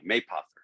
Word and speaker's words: Mapother: It's a long A. You hit the first syllable. So imagine Okay. if it had a Y. Mapother.